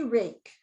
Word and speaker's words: rake: say rake her ache it has three sounds but i've already taught the student the con the vowel consonant e syllable type okay so here we go er a k and i put sneaky e we don't hear it but there's a sneaky e and then i also